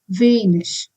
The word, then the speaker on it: wenig: If ig is at the end of any word, it has to be pronounced as ish, like in wenig.